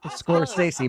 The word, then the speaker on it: Scorsese: Scorsese? It's Scorsese.